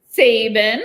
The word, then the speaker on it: Sabin: Is it Sabin? Sabin? Sabin, like the football coach in the United States. All right. It's the emphasis on the wrong syllable.